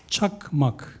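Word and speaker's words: Çakmak: And in that case, I think that his name must be pronounced as Chakmak, which in many Turkic languages stand for He was lighting.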